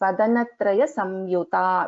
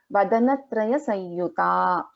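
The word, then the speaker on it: वदनत्रयसंयुता: So here after Sa, we have the Anuswara and then we have the Ya. Okay. So we can pronounce this as Vadanatraya Samyuta, which is correct. So we can also pronounce this as Vadanatraya Sanyuta. Vadanatraya Sanyuta. So both are correct.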